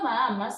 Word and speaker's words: Bahamas: La palabra Bahamas sería un caso de hiato simple, claro, porque la H es muda.